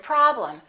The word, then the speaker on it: problem: vowel is reduced madam look at the e m of the word problem the first syllable is stressed and the e m will sound exactly the same as the am of the word madam listen madam problem this